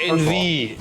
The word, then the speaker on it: Envie: Envie, E-N-V-I-E. Yeah, envie, which means in French to be alive.